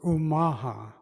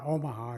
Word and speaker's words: Omaha: know was named after us the real true pronunciation is umaha it's not omaha it's umaja and even the word nebraska comes